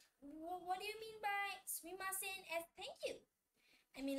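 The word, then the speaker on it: すみません: Sumimasen. Sumimasen. Some people also say it as suimasen. There is just a change in pronunciation, but while writing, you have to write it this way only.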